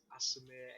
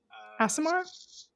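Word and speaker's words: Aasimar: And Asimir, I don't know how you say it. Asimar? Yeah, that's the one.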